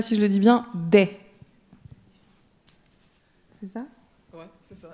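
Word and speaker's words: dèh: Est-ce que quelqu'un sait ce que veut dire, je ne sais pas si je le dis bien, des? C'est ça? Ouais, c'est ça, exactement. Ça s'écrit D-E-H, des.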